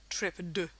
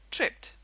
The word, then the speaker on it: tripped: stop we don't say trip D this is actually very difficult to even pronounce we say tripped with a t sound at the end so this child is